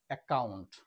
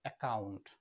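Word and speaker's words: account: ক এর মত উচ্চারণ নেক্সট ডাবল সি এর পরে ও রয়েছে এখানে ডাবল সের উচ্চারণ হবে ক এর মত একাউন্ট শুধু ক এর মত একাউন্ট নেক্সট ডাবল সি এর পরে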